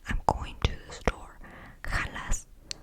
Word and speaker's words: jalas: ¿Jalas?